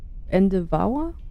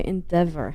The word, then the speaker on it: Endeavour: Endevauer? Nee, das kann nicht sein. Endeavour. Endeavour? In itself. Spricht man das so aus? So ist die Dings da. Endeavor. Okay, Endeavor heißt das.